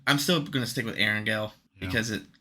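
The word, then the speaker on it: Erangel: which is Aaron and he mixed it with the word Angel so or Angel it's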